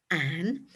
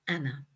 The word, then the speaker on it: Anne: Now her name was soon shortened to an as we know her, but they would have pronounced it in the continental fashion of Anna.